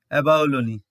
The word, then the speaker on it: abalone: Again, its final E is pronounced as E, abalone.